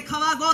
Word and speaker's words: 河合: 市の、さんずいの川と書いて、アウト書いて、普通川井と読むんですけども、これで川郷と言います。